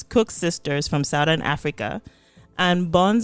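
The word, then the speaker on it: Koeksisters: from our South African friend on how to pronounce this. So it's Cook Sisters from Southern Africa, and Buns and Puff Puff, which are mainly common in West Africa and parts of Central Africa.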